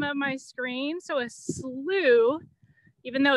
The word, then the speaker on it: Slough: at the bottom of my screen so a slew even though it's spelled weird it's pronounced oo is a wetland